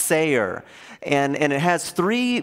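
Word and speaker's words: שר: here is really interesting it's spelled s-a-r and it's pronounced sayer and and it has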